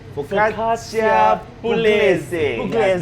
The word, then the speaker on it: Focaccia pugliese: Kevin, pronounce it again. What did he say? Focaccia pugliese. Focaccia pugliese.